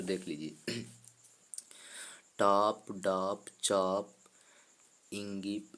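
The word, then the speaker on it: ङीप्: मतलब इसका उच्चारण डीप भी कर सकते हैं दोस्तों, इसका उच्चारण डिस भी कर सकते हैं, और इंगिप भी कर सकते हैं, इंगिस भी कर सकते हैं।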